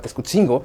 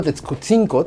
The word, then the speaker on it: Tetzcutzinco: variante de nuestra región el sonido de la letra G no es parte de los sonidos de la lengua náhuatl. Por eso no es correcto utilizar la palabra Texcotzingo si se quiere utilizar